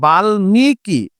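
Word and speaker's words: বাল্মীকি: সাথে যুক্ত অবস্থায় আছে যেহেতু ল এর সাথে যুক্ত অবস্থায় আছে সেহেতু ম ফলাটা ডিরেক্ট উচ্চারণ হবে তাহলে এই শব্দটার উচ্চারণ হবে বালমি কি বাল মিকি আর যখন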